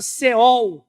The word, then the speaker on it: Sheol: Inferno antigo testamento e a palavra seol é mas pronunciamos céu mas ela se escreve sheol é a palavra traduzida